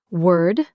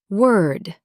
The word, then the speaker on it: word: Word. World. Work. Say them with me slowly. Word. Word. World. World. Work. Work. All three start with that soft were sound. Not war. Not war. Just were in a sentence.